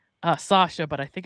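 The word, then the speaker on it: Saoirse: So yeah, it's actually pronounced Sasha, but I think it's like Soirse. Sorsha, right?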